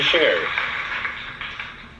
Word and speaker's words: Scherer: How do you say his last name? Scherer? He's a Scherer. Chef Josh Scherer.